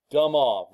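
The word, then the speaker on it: de Moivre: I mean, his name is DeMoivre. A lot of people mispronounce this, they DeMoivre's or I don't know. DeMoivre, that's who it is.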